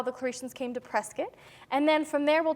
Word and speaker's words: Prescott: Well, technically, yes, but the natives here like to say Prescott, like the word biscuit. That makes perfect sense. Great, so we'll talk about how the Claretians came to Prescott, and then from there